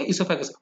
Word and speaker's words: oesophagus: ईसोफेगस में ओ silent है, OESOPHAGUS, food pipe है।